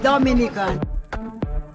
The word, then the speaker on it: Dominica: Oh, we call it Dominican. It is spelled D-O-M-I-N-I-C-A.